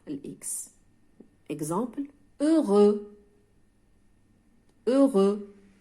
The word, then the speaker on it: heureux: الكلمات التي تنتهي ب EUX لا أنطق الإكس. Exemple heureux.